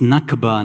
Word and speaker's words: Nakba: the Palestinians oh boy it's nakba not now I wonder where you guys got that mispronunciation from it's yes not that pronunciation let's see if uh